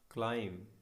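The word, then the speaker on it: climb: साफ करना client client क्लाइंब इसमें अब ध्यान रखिए बीच साइलेंट होगा का यह लाइम अलार्म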